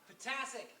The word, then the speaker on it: Potasic: Potasic. Potasic. I knew it sounded like a vitamin. Give him a hand if you would. Kind of sounds like, a vital nutrient in the human body.